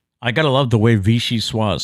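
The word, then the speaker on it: vichyssoise: gotta love the way vichy sua is spelled though it's v-i-c-h-y so there's your vichy see i've heard that before then your s-s-o-i-s-e that's your swah i've heard it before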